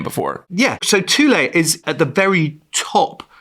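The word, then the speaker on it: Thule: Tulle, that's my Inuit pronunciation.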